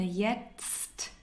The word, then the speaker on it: jetzt: Ich wohne jetzt in. Let's pronounce jetzt again. Jetzt. It's very difficult. I pronounce once more for you. Jetzt.